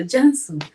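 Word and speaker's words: Cansu: The name is spelled C, but it's pronounced J. So Jansu, welcome to my channel.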